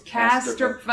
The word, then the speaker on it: Casterfo: It's Casterfo.